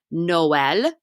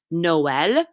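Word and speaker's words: Noël: see down below here we have the word for christmas noel noel and so we have to pronounce the o and the e separately or the country of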